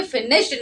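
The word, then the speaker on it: finished: रहा है ठीक है अभी इसमें अगर डी या फिर ईडी जुड़ जाए हमने ऐसा कहा कि डी या ईडी जुड़ जाए तो क्या हो जाता है वो ट का साउंड लेता है तो यहां पर हम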